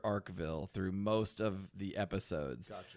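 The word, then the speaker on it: Arkeville: it's not he okay Vince carolli says Dr archival it is properly pronounced Dr arcville through most of the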